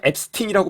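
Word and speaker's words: Epstein: 우리나라죠 근데 이제 그 자기가 앱스팅이라고 불러달라고 했어요 영국이나 미국에서는 영미권에서는 그 발음이 원래 어떻게 나던 본인이 불러달라고 한 대로 불러 주거든요 그래서 미디어에서 항상 이제 앱스틴이라고 말하는데 사실은 이제이 사람 관련된게 좀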